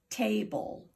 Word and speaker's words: table: The E is silent.